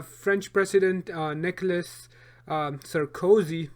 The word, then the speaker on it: Sarkozy: president uh nicholas um sir cozy did i pronounce his name right sarkozy sounds like cozy wow so cozy you know that aside